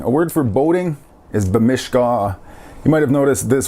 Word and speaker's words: bimishkaa: So if I want to say I want to go boating, I would say bimishkaa, depending on your dialect and how you pronounce it. Emphasis changes around on those little vowels.